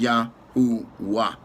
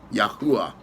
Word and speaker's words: Yahuwah: Therefore, the pronunciation correctly is Yahuwah. Yahuwah.